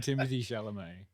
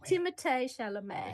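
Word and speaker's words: Timothée Chalamet: uh doing popcorn Market good on Timothy shom yeah yeah yeah no you're pronouncing it wrong Tim shal Tim shalam he know he knows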